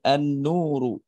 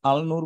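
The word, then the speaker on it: النور: তাহলে কি হবে? আননুরু আনুরু এজন্য দেখবেন বাংলায় অনেকে লিখে আলনূর আলনূর বলে কিন্তু কোন শব্দ হবে না হবে আননুরু হুম যেমন আমরা মুবতাদা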